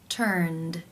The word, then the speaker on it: turned: you pronounce this word the final sound in the infinitive is the n consonant sound which is voiced therefore it is case 2 where the ed is pronounced as the d sound turned turned how do you